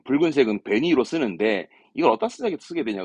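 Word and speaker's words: 紅色: 발음은 좀 어렵습니다. 생소하죠. 베니이로. 예, 붉은색은 베니이로 쓰는데 이걸 어디다 쓰게 되냐 그러면 입에다가 붉은색을 바른 거.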